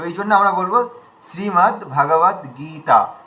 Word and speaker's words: শ্রীমদ্ভগবদ্গীতা: তো এখানে শ্রীটা দীর্ঘ আছে। গ দীর্ঘ দীর্ঘ আছে আর ত আকার দীর্ঘ আছে। তিনটে দীর্ঘ আছে। মানে আমরা কোন মানে বাক্য কিংবা শব্দ দেখলেই আমাদের দীর্ঘ দিকে চোখ পড়া উচিত। তিনটে দীর্ঘ আছে। তিনটে আমাদের দীর্ঘ টানতে হবে।